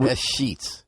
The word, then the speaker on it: escheats: Do I say it right, or is it S-Sheets?